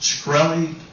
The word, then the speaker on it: Shkreli: chairman is it pronounced shkreli yes sir see there you can't answer some